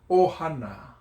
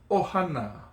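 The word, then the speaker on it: ʻohana: Ohana. Okay? Now, you see there's a mark before there, so you would start the A little bit quicker. Ohana.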